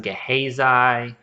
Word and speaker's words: Gehazi: name is pronounced differently a lot of sources say it's pronounced gehazai um i think uh some of them say gehazi i prefer gehazi so i'm just gonna call him that uh but anyway so